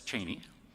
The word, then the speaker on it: Cheney: so the writer to know how to properly pronounce the vice president's name was it Cheney or geny well yes dick said it's Cheney and the writer said so what kind of